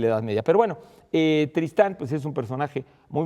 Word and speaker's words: Tristán: escribía, si por supuesto se escribe con acento en la segunda sílaba.